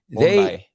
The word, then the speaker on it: Bondi: Now, the one channel that I watch quite often, I really enjoy, is Bondi Beach. Am I pronouncing it right? Is it Bondi Beach? Bondi.